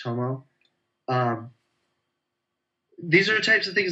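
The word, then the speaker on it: Tummo: This is Tumo's intensive yoga, or it's actually pronounced Tomo.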